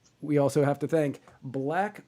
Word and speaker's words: BLVCK: We also have to thank Black Organic Coffee. That's spelled BLVCK Organic Coffee.